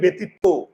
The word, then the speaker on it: ব্যতীত: কি ব্যতীত না ব্যতীত আমরা উচ্চারণ করি ব্যতীত মুখের চোয়াল খুলে না আর মুখের চোয়াল যদি না খুলে তাহলে এই যে এই অটা কি হয়ে যায় উকার হয়ে যায় তাহলে এই উকার দিলাম ব্যতীত বোঝা যায় এবার